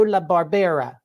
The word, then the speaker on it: La Barbera: me if I don't tell me if I mispronounce your name I'm here with La Barbera is that right perfect I believe it I